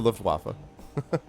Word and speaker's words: Luftwaffe: That is how you pronounce it, is the Luftwaffe. It is how you pronounce it. Not waffle. You do pronounce it Luftwaffe.